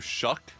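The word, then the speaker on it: Shough: And I believe they're starting Tyler Shuck. Is that how you pronounce Shucks?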